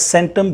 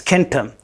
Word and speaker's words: centum: So in Latin, that became centum, which is pronounced as centum, but it is centum.